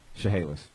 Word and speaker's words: Chehalis: Chehalis. Chehalis? Yeah. Oh my God. You're oh my godding that. Look how it's spelled.